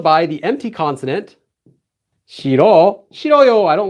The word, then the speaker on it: 싫어요: So now we just get 싫어요, 싫어요. Really easy. This consonant deletes itself whenever it would normally go into the empty space.